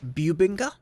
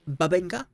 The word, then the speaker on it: bubinga: string babinga thumb nt some people have said the pronunciation should be bubinga not babinga listen i've hung around american musicians they all said it was babinga i'm gonna call it babinga they're americans i'm just gonna go with the american pronunciation that's that carrying on